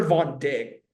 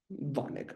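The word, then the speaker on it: Vodnik: ERA, bad, except for Jaden Hill, Victor Von Dick, Von Nick, yeah, Von Nick.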